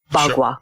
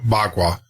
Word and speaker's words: Bagua: black belt, say you're in how do you pronounce it? I want to make sure Bagua. Bagua. So you get a black belt in Bagua.